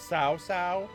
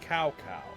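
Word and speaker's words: Cao Cao: a different thing like later we're going to see a guy named SAA how he used to be called was cow cow that's how I knew him so if I pronounce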